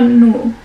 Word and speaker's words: Nuh: us about noah surah nu i hope i said it right no that is the arabic way of saying noah just to make sure